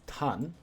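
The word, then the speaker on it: 淡: Alternately pronounced in kanji compound words, this is tan, which means thin, faint, pale, or fleeting.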